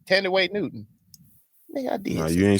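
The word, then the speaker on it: Thandiwe Newton: T way yeah I did say it right tenday Newton I did you didn't say that the first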